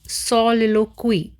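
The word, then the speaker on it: soliloquy: रहा है this is सोलोक सोलो कुई ऐसे से प्रोनाउंस किया जाता है यहां पे ना सोलो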